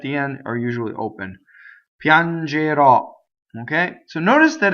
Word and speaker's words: Piangerò: Piangerò, future tense, I will cry, I will weep, right? Ends with a strong O on accent on the last syllable, right? And there's an O accent. Most O's that are accented at the end of a word in Italian are open.